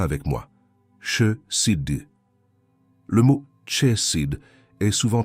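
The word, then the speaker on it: חסד: Prononce-la avec moi. Chesed.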